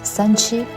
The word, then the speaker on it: 三七: People quickly named this herb 3-7 in Chinese pronounced as Sanchi, indicating that it must grow for 3 to 7 years before it can be used medicinally.